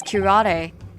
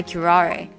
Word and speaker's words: curare: A toxin known as curare. Curare. I'll look up the pronunciation after.